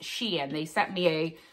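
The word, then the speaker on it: Shein: if anybody has wondered the s-h-e-i-n is pronounced Sheen they sent me a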